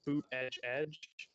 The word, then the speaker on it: Buttigieg: They'd have their usual chants of boot edge edge. To make sure they pronounce the last name, and Mayor Pete or President Pete.